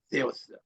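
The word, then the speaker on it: Θεός: 널리는 것이 세우스라고 합니다 떼우스 이거는 세타 할 때 쇠었어 이렇게 발음하는데이 알림의 이름이 엘로힘 L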